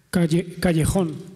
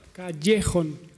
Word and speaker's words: Callejón: Allora, come si pronuncia il tuo cognome? Io non lo so. Callejón. Non ho capito? Callejón.